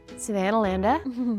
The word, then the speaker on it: Savannahlander: Savannahlander, that's how they say it over here.